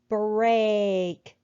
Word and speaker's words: break: But this time the E is silent and we hear the A say its name.